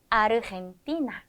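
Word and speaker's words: Argentina: 이렇게 읽어 주시면 됩니다 자 나머지에 이와 만나는 경우에는 히의 소리가 난다 그런데이 히은 하는 소리라고 했죠 그래서 아르헨티나 아르헨티나라고 해 주시면 되고 나시오 나시오라고 발음을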